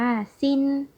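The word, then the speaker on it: 心: จาก ตัว นี้ ค่ะ อ่าน ว่า สิ้น แปล ว่า ใจ ค่ะ เวลา ที่ คำ ว่า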